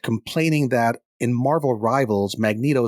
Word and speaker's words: Magneto: that in Marvel Rivals Magneto says it with a hard G and they really upset